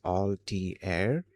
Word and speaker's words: Altair: Uh, a lot of people back then, including the engineers, hobbyists, and early tech builders in the 1970s did pronounce the um Altter 8800 computer as Alt Air um with that all sound at the start.